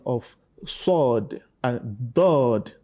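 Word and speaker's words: ض: Okay, from there you get the best pronunciation of sword and dod. Now pronounce it dod. Dod. Dod. Dod. Dod. Dod. So you must differentiate between dod and dal.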